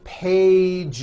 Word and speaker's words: pages: Two pages. It's not two pages, unvoiced, no. It's two pages with a voiced Z. Even though you spell the word like this, in American English, you pronounce the word like this.